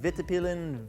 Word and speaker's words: Vitpilen: And then the model name is Vitpilen, Vitpilen.